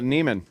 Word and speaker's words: Neiman: Nivens. Is it Nivens or? Oh, Neiman.